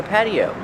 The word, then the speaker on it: patio: This is an outdoor patio. Pronunciation patio. The T is pronounced with a fast D.